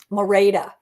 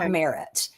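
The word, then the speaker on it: Merete: Mora, that's how you say her name. Mora, not Merit.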